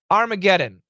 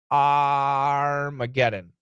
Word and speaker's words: Armageddon: short and use AI Armageddon is the a a short o yeah it's a the first a it's a short o plus r that's right Armageddon writing skills yep how